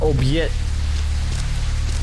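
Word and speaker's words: обед: The Russian, word for lunch and it's pronounced obyet.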